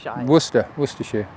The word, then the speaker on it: Worcester: you say is it Worcester or is it warer Worcester werer werer okay what you're English anyway so right